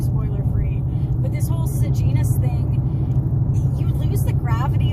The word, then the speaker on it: Sejanus: It eliminates Sejanus's. When I read the book, I was pronouncing like Sejanus, so that was something new for me, was learning that it's Sejanus actually, which I think is worse.